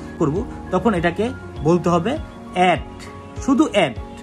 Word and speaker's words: @: তখন এখন তো বর্তমানে সবাই ইমেল ব্যবহার করে থাকেন, করব তখন এটাকে বলতে হবে অ্যাট, শুধু অ্যাট। এটার আসল উদাহরণ বা উচ্চারণ হলো অ্যাট।